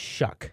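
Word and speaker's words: Shough: Shock. So So it's actually pronounced Shuck. Shock. Uh, I I don't know why it's pronounced Shuck, but that's how they pronounce it. It looks like show, but it's Shuck.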